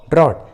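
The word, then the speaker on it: drought: के बाद आते हैं तो जी और एच साइलेंट होता है, जी एच का उच्चारण नहीं करते। जैसे थॉट, बॉट, ड्रॉट, देखिए तीनों इंग्लिश वर्ड्स में जी और एच एक साथ है और तीनों ही वर्ड्स में जी और एच वॉवेल के बाद आए हैं, यू के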